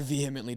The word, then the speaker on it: vehemently: I vehemently disagree. Vehemently. Well, it's not vehemently, it's vehemently. Vehemently. You don't have to- Vietnamese. You don't have to pronounce an H like that.